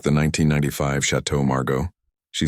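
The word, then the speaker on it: Château Margaux: "We'll have the 1995 Chateau Margo," he said, trying to sound important. "But he said the French name wrong, making it sound like Shadow Margos instead of the correct French pronunciation."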